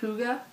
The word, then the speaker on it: hygge: of this but there's a Danish word it's pronounced hygge and it it doesn't translate into English but